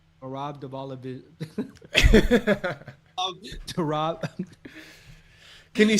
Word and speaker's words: Merab Dvalishvili: Merab Dvalishvili, Umar Nurmagomedov, we already broke it down.